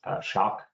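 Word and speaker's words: Schöck: see the most is shock s h o e c k something the spelling is a little bit weird we just pronounce it shock isocor is the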